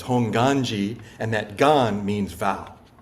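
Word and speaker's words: Hongwanji: Temple is called Nishi honganji not honganji the W is silent um it's honganji and that Gan means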